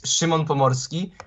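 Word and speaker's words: Szymon Pomorski: can introduce myself so my name is Shimon pomorski but it's really hard for some people to pronounce it so you can call me to viewers like a Simon because it's it's something like this and I'm 18 year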